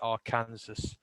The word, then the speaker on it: Arkansas: Why the hell is it an S? I can't let that one go. Oh, it's Arkansas. Yeah, we know it is. It's spelled that way.